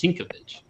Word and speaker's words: Sienkiewicz: and he was like, "Thank you for pronouncing it correctly. It's Sienkiewicz." Nobody pronounces it right.